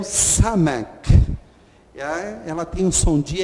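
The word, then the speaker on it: סמך: uma letra que tem esse som do S bem forte, é um S pronunciado assim de uma maneira muito clara, né? Samek. Tanto é que ela vem no seu nome, Samek.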